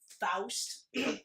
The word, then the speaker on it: Faust: Faust. That's how it's pronounced, by the way.